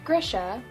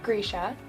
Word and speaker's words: Grisha: first reading this book i thought it was pronounced grisha which i very shortly after learned was wrong it is pronounced grisha i learned this last month when i met leigh bardugo and she said grisha and i was like i'm so sorry i've